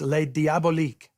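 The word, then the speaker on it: Les Diaboliques: Keeping the French spelling and pronunciation gave it a mysterious quality that the literal translation diabolic just doesn't have.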